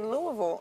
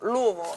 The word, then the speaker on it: Louisville: um and they added Louisville Louisville I learned you had to say it like that Louisville Louisville it's not Louisville it's Louisville okay mhm oh that's that